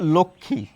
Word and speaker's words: লক্ষ্মী: যুক্ত বর্ণের সঙ্গে মফলা যুক্ত থাকলেও আমরা ময়ের উচ্চারণ করি না।